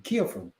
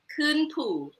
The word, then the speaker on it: KhuenPhu: KhuenPhu. It means climbing the mountain. How do you say climbing the mountain? Climbing the mountain. No, in Lao. No. KhuenPhu.